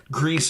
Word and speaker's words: Gris: Greece, for those wondering, it's spelled Gris.